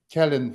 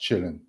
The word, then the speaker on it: Källén: to Alec and Joseph who corrected my initial pronunciation because uh in in Europe I had only keen function and then uh I understood that being Swedish citizen Gunnar Chillin uh should be pronounced chilling and in Russian translation it is all it